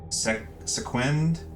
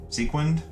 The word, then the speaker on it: sequin: buttonup for the shirt for um I might pronounce this wrong but for the pants we have sequent sequin flowy pants.